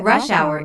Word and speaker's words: rush hour: to 6 30 PM notice that rush hour is a compound noun with the main stress on the first word isn't that this is